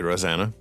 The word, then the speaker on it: Rosana: thing the same way again that is lovely rosanna yeah thank you hey how can people find